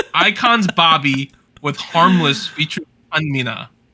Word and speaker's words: Chanmina: iKON's Bobby with Harmless featuring Chanmina. Right? Is that how I say her name? Yeah. Just stated weirdly. Chanmina.